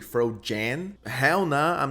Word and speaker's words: Frogan: And I've been getting told that I'm pronouncing her name wrong. It's actually Fro Jan. Hell no. I'm not saying it like that. She will forever be Frogan to me.